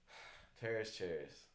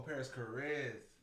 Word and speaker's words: Paris Carz: Paris Cher. Did I say Paris Cher? Oh, Paris Carz. Paris Carz. Yeah. Yeah, I said it wrong. Sorry gang. Paris Carz. Paris Carz. Carz.